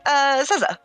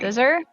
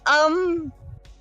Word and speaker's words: Seza: Scissor? Caesar. Like cerveza? Like Seza. Caesar. S-E-Z-A. Caesar. Oh, I thought you were talking about like Caesar, like the dressing, but not saying it right. No, Caesar. Seesaw.